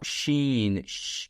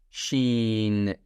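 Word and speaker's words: شين: This is now sheen, the sh sound, s and h sound in English. Sheen.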